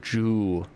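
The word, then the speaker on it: juu: it's chapter ju j-u-u joo is the is how you say 10 in japanese so looking forward to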